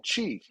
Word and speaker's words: Qi: And so everything should flow out of that Dantian and give you life force energy, which they call Qi, which is spelled Qi.